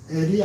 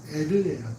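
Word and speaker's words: Er: 에리라 불렀는데 이게 여러분 엘이 아니라 정확한 발음은 에르예요.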